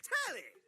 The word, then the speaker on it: Telly: The name's Telly. Rhymes with Whoa, Nelly!